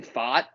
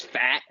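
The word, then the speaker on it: Pfaadt: two to one Brendan fought I didn't know how to say his name but I learned it because he pitched great I thought it was fat but it's fought apparently pitch against Ranger Suarez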